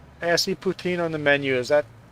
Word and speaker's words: poutine: but put well actually the French way of Putin it's close to Putin but no no not